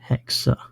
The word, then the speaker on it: hexa: All of these say hexa, whereas this got hexi with an E.